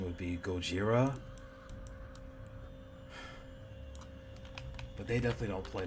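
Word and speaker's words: ゴジラ: Gojira. Yeah, the Japanese don't play when it comes to God. Like, well, I know the correct pronunciation would be Gojira, but they definitely don't play when it comes to that.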